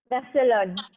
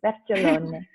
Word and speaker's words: Vercellone: VERCELLONE. VERCELLONE. But if you want to have the Italian accent, you can have it. VERCELLONE.